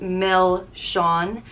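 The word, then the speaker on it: milseáin: it's a cone with some soft creamy ice cream and a chocolate flake so good and also milshan which means sweets it's pronounced mel shawn a lot of people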